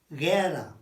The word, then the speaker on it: guerra: La guerra. Guerra. It's GU plus an E, look. So that's a G. It doesn't convert it to a Ch. No. It's GU, but you don't say it like a gua.